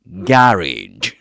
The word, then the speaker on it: garage: So you've got three words that contain the same a sound which is the same a sound you'll find in the word cat. Okay. So managed uh mechanic and garage right perfect.